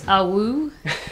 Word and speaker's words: Awooh: It's Awooh. It's it's a wolf's howl, so a werewolf's howl. So you just have to imagine it sung.